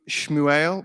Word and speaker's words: Shmuel: he's called Samuel in Hebrew it's the name shmuel which means um heard by God or heard